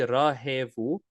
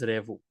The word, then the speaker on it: રહેવું: Now the verb revu is actually rahevu, but people pronounce it as revu.